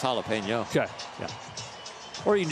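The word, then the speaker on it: jalapeño: to ask my question is a jalapena same thing as a jalapeno oh that too did I say it wrong I maybe jalapeno jalapeno yeah yeah I would say it's jalapeno okay yeah or you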